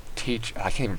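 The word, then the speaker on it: Tyche: want to take over it's not Tycho its teach I can't even pronounce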